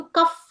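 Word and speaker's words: cough: syllable ಇರುವಂತಹ word ಮಕ್ಕಳೇ okay ಇಲ್ಲಿ ಸಿ ಓ ಯು ಜಿಎಚ್ ಓ ಯು ಇದ್ರುನು ಕೂಡ ಇದು ಕಫ್ ಅಂತ ಓದ್ತೀವಿ ಅಲ್ವಾ ಕ ಆಫ್ ಕಫ್ ಅ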